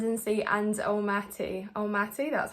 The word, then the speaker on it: Almaty: now it's Overland and sea and el mati el mati that's how you say it so it wasn't